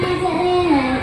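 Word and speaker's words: مجراها: Lafaz majruha dibaca majruha, bacaan ilham, artinya mengiringkan bunyi kata-kata kosong.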